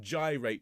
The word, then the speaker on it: gyrate: sure you and you pronounce the word gyrate very very clearly because part of the fun is that you then rhyme it with to take and bind the promising